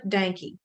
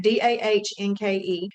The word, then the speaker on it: Dahnke: My YouTube channel is Dahnke. D-A-H, H is silent, but D-A-H-N-K-E.